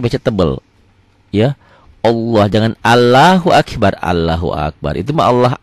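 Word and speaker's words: الله أكبر: Takbiratul Ihram Allahu akbar Allah jangan allahah ya ingat-ingat ya ini kan tulisannya Allahu Akbar salah Enggak ada yang salah K tulisannya Allahu Akbar tapi salah salah ini seakan-akan ada w-nya di sini Allah Allahu Akbar Akbar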